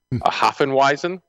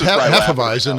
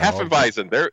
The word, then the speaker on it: Hefeweizen: Hafenweisen? Could be. I don't know. I'm not familiar with it. I don't know that one. Well, it's Hefeweizen is a German style. Hefeweizen.